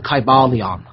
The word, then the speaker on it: Kybalion: the teachings of hermeticism and it's called the kybalion okay this is a very good primer and